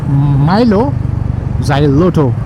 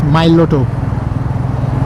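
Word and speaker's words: Mylo Xyloto: Milo, and then X-Y-L-O-T-O, which I used to pronounce as Milo Xyloto. But then I found out the correct pronunciation is Miloto. There is no lo or xy in between. It's straight up Miloto.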